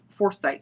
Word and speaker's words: Forsyth: me where I live it's spelled Forsyth yes foresight for foresight like this it's like this